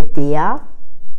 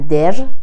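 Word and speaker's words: die: و اگر آخر کلمه بیاد قبلش دونه ای باشه، مثل توی آرتیکل دیا، نمیگن دا، نمیگن در، میگن دیا، یا اینکه اودا یا ویدا.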